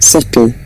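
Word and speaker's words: subtle: इसको कैसे हम प्रोनाउंस करते हैं, सटल, सटल, बी इसका साइलेंट रहता है, ठीक है, सटल।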